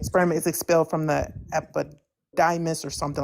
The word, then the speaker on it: epididymis: Epididdymis. I suck at reading things out without writing them. Could you just repeat that again? Epididymis. I don't think I'm pronouncing that right. I think you mean the epididymis.